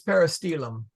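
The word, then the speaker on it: peristylium: It is peristelium. Sorry. I'm Okay. picking up. I want to make sure I'm not confusing myself. Why? How do you say it? Peristelium. Peristelum. The Y that's a long. It's a long It's a long I.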